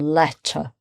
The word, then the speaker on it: letter: And letter. Again, ER at the end. It doesn't mean you have to pronounce it any differently with an R sound if you want to sound like a British English speaker with an RP accent.